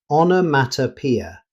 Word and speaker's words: onomatopoeia: The correct pronunciation is onomatopoeia. Notice that the strongest stress is on P.